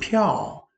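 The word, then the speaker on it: 票: Từ piào, bạn cố gắng bật hơi một chút nhé. Bởi vì đây là âm P, phải bật hơi.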